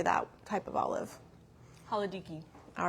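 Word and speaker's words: Halkidiki: Haladiki.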